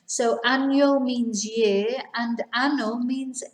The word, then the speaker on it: año: don't pronounce the near remember that n without the tilde is n and with the tilde is enye and so these words we have annul so it sounds like it's a-n-y-o not anno which means something completely different so annyo means year